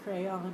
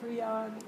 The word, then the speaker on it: Creon: You say crayon, I say Creon.